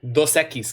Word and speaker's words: Dos Equis: those sticky sky sorry dos Equis guy that is the current credit correct pronunciation even though it really tilts me I believe that beer should be pronounced Dos Equis because you should separate the dose and the a case because then people can understand that it's two words because I didn't for